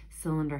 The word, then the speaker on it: cylinder: our word for cylinder cylinder has that soft c at the beginning cylinder this is a cylinder